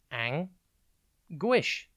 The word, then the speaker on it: anguish: It's pronounced ang-guish, and it is spelt A-N-G-U-I-S-H. Think ang, then the letter U, and then ish.